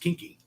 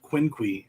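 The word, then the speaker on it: Quinqui: saying how to say it uh basically it's pronounced kinky instead of quincui like i was trying to do uh for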